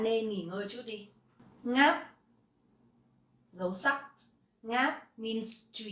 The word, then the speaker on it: ngáp: Ngáp, dấu sắc.